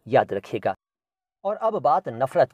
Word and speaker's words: नफ़रत: तो नफ़रत लिखते वक्त हिंदी में अगर फ के नीचे नुक्ता लगा दें तो बहुत अच्छा है, वरना वो नफ़रत पढ़ा जाएगा और नफ़रत सही उच्चारण नहीं है, नफ़रत है, नफ़रत।